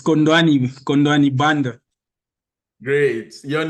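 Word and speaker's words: Khondwani: uh which is I'm finding it hard to pronounce this name k h o n d w a n i hondan uh yes it's condani condani band great your name where are you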